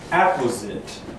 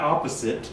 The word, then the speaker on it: apposite: of the day is apposite not opposite apposite which means suitable well adapted pertinent relevant at apposite it's like opposite you drop the O first o and replace it with an a second second pronunciation for